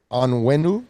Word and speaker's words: Onwenu: Michael Onwenu, I think is the way our boy pronounced it.